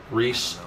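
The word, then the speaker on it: Rhys: Reese.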